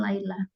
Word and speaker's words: Laila: kemudian namanya adalah Laila Jadi kalau y itu dibaca y ya Dan ini bukan bacanya Lila Tapi bacanya Laila kemudian ijeknya adalah I